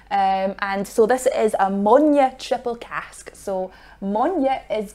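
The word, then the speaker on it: Moine: So if you see a Bunnahabhain whiskey out there that's got the word Monya written on it, it's spelled M-O-I-N-E. That is Gaelic for peat.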